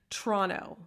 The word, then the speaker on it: Toronto: you so you say toronto this is just not part of the podcast but this is just my toronto nature is like you don't pronounce the second t it's like it's like toronto it's chi it's c-h-r-o-n-n-o